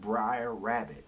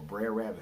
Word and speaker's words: Brer Rabbit: Caribbean tradition and but also when you read briar rabbit Oh Brer Rabbit how do you say it Brer Rabbit that